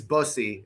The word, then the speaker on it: Bussi: His name's Brandon, okay, and it's spelled Bussi, but it is bussy, okay.